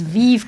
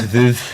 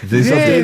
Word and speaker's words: Veuve: We pronounce it the Scottish way. It's Vive Clicquot. I think it's Veuve. Veuve.